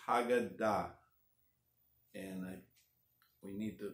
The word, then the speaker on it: Haggadah: you want to say Haggadah you can say how gotta but you'd be wrong if you were in my presence I might have to do something because it's Hagen died and I we need to learn to pronounce